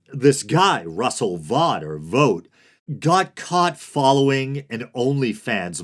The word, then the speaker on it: Vought: And if there was any doubt, Trump installed the head architect of Project 2025, Russell, I've heard it pronounced Vogt or Vought, makes me think of